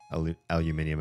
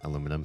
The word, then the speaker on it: aluminium: I don't need languages to be completely um phonetically accurate with foreign language. Both names emerge at approximately the same time. Yeah. Aluminium and aluminum.